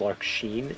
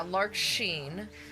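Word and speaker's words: Larxene: going to mispronounce uh I think it's actually pronounced Lark Sheen, isn't it? Uh yeah, Lark Sheen.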